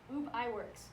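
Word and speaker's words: Ub Iwerks: lie and I also didn't know how to pronounce it either but it's UB I works so he actually drew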